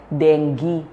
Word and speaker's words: dengue: Ah sa mga libro ang sabi nila ang pag-pronounce daw dengge. Pero tayong mga Pinoy eh sanay na sa dengge. So denge na ang gagamitin ko.